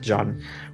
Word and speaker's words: Jean: are we gonna do it's French so you pronounce it John we've gotta help Abby